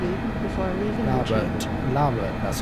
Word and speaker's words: Larbert: Labert, that's how they say it.